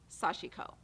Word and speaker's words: sashiko: of this he's a sashiko designer and does beautiful beautiful work um that's how he pronounces it sashiko and he's japanese and so i decided to go with his pronunciation so you use this